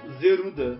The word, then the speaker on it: Zelda: letra Delta do grego quando os japoneses pronunciam a letra Delta eles pronunciam zeruda que é como eles falam Zelda no Japão então senhoras e senhores